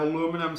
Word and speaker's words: aluminum: Now, like the sodium chloride, this one I'm going to have aluminum starting out the same way. And you can tell I'm American by the way I just pronounced that.